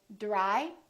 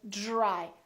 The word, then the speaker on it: dry: say drew drew so we don't say dry we say dry so this dr sort of becomes like the letter j j or the phonetic